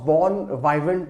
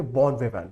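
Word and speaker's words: bon vivant: इसका मतलब है इसका मतलब है इसका सबको इसको आप प्रोनाउंस बोर्न वाइवेंट नहीं करेंगे correct how you will pronounce आप इसको कैसे प्रोनाउंस करेंगे बोर्न वेव राइट अब इसका मतलब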